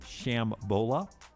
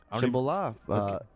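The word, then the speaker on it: Shambala: and it was named Shambola. Shambhala. 3 Dog Night. Yeah. Oh, really? Yeah, I think that was it. Shambhala, not Shambola.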